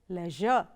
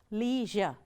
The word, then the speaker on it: leisure: one is pronounced as leisure the second pronunciation says leisure now both are right the first one is the british way of pronouncing the second one is the american way of pronouncing it i will follow the